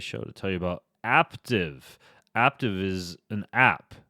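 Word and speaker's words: Aaptiv: to tell you about active active is an app it's an app that rhymes with active see what they did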